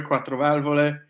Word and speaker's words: quattro valvole: How do you pronounce quattro valvole? There you go, quattro valvole.